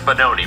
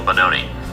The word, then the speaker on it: Benoni: position, it's still a Benoni. Which, if you didn't get the memo earlier, it means son of sorrow, and it rhymes with baloney.